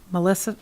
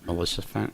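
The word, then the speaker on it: Maleficent: The 4 villains are Melissa, I always say it wrong. Melissa Fent? There we go.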